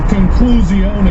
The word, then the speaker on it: conclusione: It's conclusione. Yeah. Is actually literally how you say it in Italian.